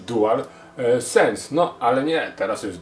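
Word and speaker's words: DualSense: ponoć do dól sens teraz wszyscy mówią dól sens tak to mówiło się DualShock tak to teraz się powinno mówić Dual sens No ale nie teraz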